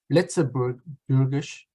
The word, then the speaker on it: Luxembourgish: It's a you say Luxembourgish, but it's in local pronunciation. It's Luxembourgish. Luxembourgish.